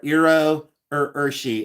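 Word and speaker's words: Iro Urushi: And these are Iro Urshi, and it's spelled I-R-O, and then Urshi is U-R-U-S-H-I.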